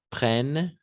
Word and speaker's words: prennent: né prenne en europe on ne prononce pas ent à la fin jamais prennent d'accord simplement prennent et